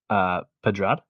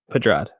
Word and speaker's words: Pedrad: Pedrad, Padrad.